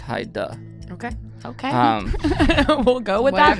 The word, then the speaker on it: Heidi: It's spelled Heidi, but she said pronounced Haida.